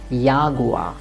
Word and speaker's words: Jaguar: like yogurt or yaguwa in english it's jaguar but in german it will be yagua or yapan that's it